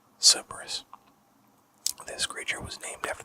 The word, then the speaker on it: Cerberus: in the secondary form, pronounced as the Greek word Cerberus.